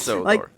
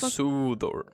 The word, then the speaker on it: Sodor: And Sodor is supposed to be pronounced with a an elongated O. So Sudor. Hell no. Hell no. Hell no. I had a feeling. It's Sodor. Yeah, it is. It's Yeah. Yeah. It's just Sodor.